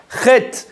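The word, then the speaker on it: חטא: Chet, qui veut dire péché, il y a un Aleph à la fin, mais on ne le prononce pas.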